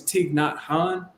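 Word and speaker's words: Thich Nhat Hanh: Buddhist monk called his it's not spelled how it's pronounced but his name is TIG not Han it's it's pronounced like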